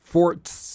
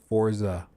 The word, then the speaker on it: Forza: feel crazy I know I don't know why that's like the the inclination to pronounce that way forts uh no it's Forza Forza Forza uh as